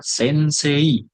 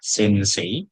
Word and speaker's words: sensei: Ini sama seperti yang E + E. Cara membaca hurufnya adalah E bukan Ei. T E. Contoh kosakatanya ada kata sensei. Ini syarat tulisannya adalah sensei. Tapi kita membaca yang benar adalah sensei.